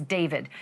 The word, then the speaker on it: D4vd: Literally for the singer known professionally as David, spelled D4 VD. I know it's strange, but it's pronounced David.